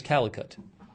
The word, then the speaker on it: Calicut: Sorry, I'm pronouncing it wrong. It's also known as Calicut, Indian city.